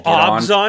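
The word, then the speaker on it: Abzan: You know, I used to really, I don't want to say Did you know Obzon is actually the pronunciation?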